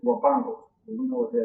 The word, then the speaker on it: Huapango: The Spanish pronunciation is Huapango.